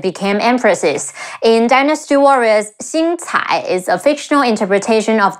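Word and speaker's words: 星彩: In Dynasty Warriors, Xing Cai is a fictional interpretation of their two daughters. Xi Yin Xing, Ci Ai Cai, Xing Cai, Xing Cai.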